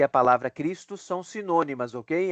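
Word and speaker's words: Χριστός: e no Grego é cristos cristos a pronúncia cristos a gente não tem em português este este som inicial a gente pode falar cristos para facilitar mas o som fonético é de cristos cristos OK então são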